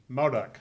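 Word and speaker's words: Modoc: to high school at mo duck high and i'm am i pronouncing that correctly modok okay and that is in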